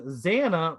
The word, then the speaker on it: Zanna: rhymes with leia and zanna rhymes with anna and guess what my